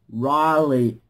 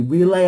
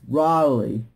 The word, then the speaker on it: Riley: It's pronounced Riley, S-R-I-L-E-Y. Okay, it's Riley S, Riley S. And for those people to get my name wrong, call me Relay S, here's the thing, it's Riley, not Relay, it's Riley, okay?